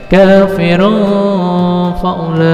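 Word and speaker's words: كَافِرٌ فَأُولَٰئِكَ: Ada un atau dhammatain bertemu fa namanya ikhfa. Jadi cara bacanya diengkan. Kafirun faulaika.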